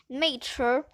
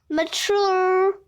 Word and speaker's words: mature: By the way, if you want to be mature, you can say it like ghetto, my grades, and tests. Mature, which rhymes with door, not mature, which rhymes not sewer.